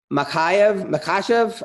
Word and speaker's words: Makhachev: All right, UFC 202, Beneil Dariush, Fight Night 202 against Islam Makhachev.